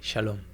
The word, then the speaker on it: shalom: It's shalom.